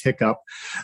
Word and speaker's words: HICCUP: You can look, there's a guide called the Health Industry Cybersecurity Practices Guide, which my staff affectionately pronounces HICCUP.